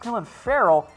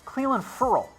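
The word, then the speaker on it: Clelin Ferrell: everyone is pronounced this wrong it is not pronounced cool and Farrell it's clowns Cleland furel like referral which I have no I had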